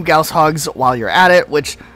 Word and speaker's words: goshawks: 8 wraiths spread across this level, and 2 goshawks while you're at it, which... yes, that is actually how you're supposed to pronounce it.